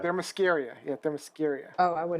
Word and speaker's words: Themyscira: It's Themyscira. Thermoscaria.